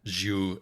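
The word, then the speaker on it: June: according to the audiobook these characters names are pronounced zuu and Anki um amazing uh um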